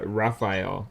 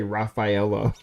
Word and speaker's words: Raphael: names yes i did i couldn't remember how to pronounce though i tripped over the pronounced the one guy's name uh raphael i kept trying to say rafaela because all the other ones ended oh what is that